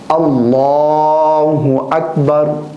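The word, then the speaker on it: الله أكبر: تو اس کا جو صحیح تلفظ ہے اللہ اکبر اللہ اکبر.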